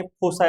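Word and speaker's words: foci: फोकस असल्यामुळे plural झाला मग त्याला फोकाय असं म्हणलं जात काय काय ठिकाणी फोसा अस प्र्सशन केलं जातं फोसा किंवा फोकाय काही म्हणा तर कुठ झाल लित असताना स्पेलिंग अस लिहायच फोसा फोकाय पण म्हणू शकता आपण फोका म्हणूया ओके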